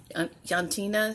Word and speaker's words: Jantina: I'm going to assume that the J is pronounced with a Y sound. So it's Jantina Stitches. Yantina Stitches.